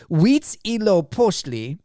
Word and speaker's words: Huitzilopochtli: So it's Huitzilopochtli, the god of war and sun, and Tlaloc, the rain god.